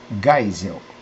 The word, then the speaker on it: Geisel: Emílio garrastazu Médici Geisel Como é o nome em Alemão está escrito Geisel com g mas se pronuncia Geisel Figueiredo o conjunto de